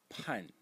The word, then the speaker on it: 判: And the last character in the series, the phonetic element again on the left side, is pronounced pan again. Pan in the fourth tone, and it means to judge.